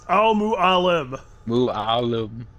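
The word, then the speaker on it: Al Mualim: you cannot his name it's Al mu Al mu Alum there you go just just if you have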